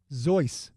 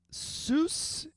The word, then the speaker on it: Seuss: a bonus how did he and his family pronounce their last name last name sues nope zoy were they German uh sus is how people pronounce it zo is the